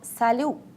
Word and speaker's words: salut: If you want to greet somebody in an informal way, you will use the form salut. I would like to pay your attention that T at the end is not pronounced.